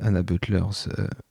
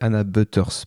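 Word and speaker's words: Anna Butterss: Est-ce que ça vous dit quelque chose Anna Butlers ? Et bien enfin je le prononce très mal parce que c'est Anna Butters pardon pas il y a pas de L.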